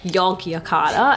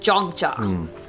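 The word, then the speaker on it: Yogyakarta: have to say because I kept calling it yog yakata and everyone was like what like what is yog because it's spelled yo G and I didn't know it was pronounced jogja so I kept saying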